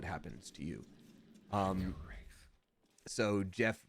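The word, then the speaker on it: Geoff: you so much um pronounce Jeff friends call me G off see that's kind of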